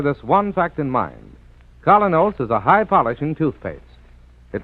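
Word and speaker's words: Kolynos: You can get Colinos at any drugstore tonight. That's spelled K-O-L-Y-N-O-S. Colinos Toothpaste.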